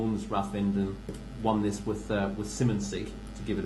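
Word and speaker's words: Simonsig: I know that Ronnie Bartlett, who owns Rathfinden, won this with Simmonsy, to give it its correct pronunciation.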